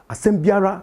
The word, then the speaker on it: asem biara: When you are speaking, asem biara. It's not biara.